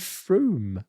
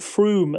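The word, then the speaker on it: Frome: on shall we get on to summon and fr which is near it is yes and I'm so delighted that you've called it FR and not FR which everybody who doesn't know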